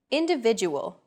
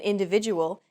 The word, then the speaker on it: individual: Individual. The stressed syllable V in individual is deemed more important, so it's pronounced longer than all other syllables.